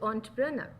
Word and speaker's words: entrepreneur: first with the title story of an accidental entrepreneur so you you all should know the pronunciation i hope you uh spell it good